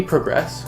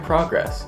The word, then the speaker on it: progress: It's great how you put context on different syllables depending on context. We progress quite rapidly. This was your progress. Verbs at the beginning, nouns at the end. Progress, progress. Thank you, the English language,